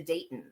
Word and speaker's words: Daytens: release which is the violet glow of the Dayton.